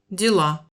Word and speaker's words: дела: Дела. Vous avez peut-être remarqué que le O de Diela ressemble pas mal à un A.